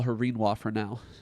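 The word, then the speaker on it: Rinoa: And I know that her name is Reinwa because that clearly remind it it rhymes with quinoa.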